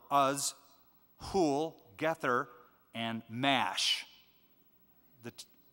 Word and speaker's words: Mash: who'll get there and mash that mosh would probably be a better pronunciation okay a couple of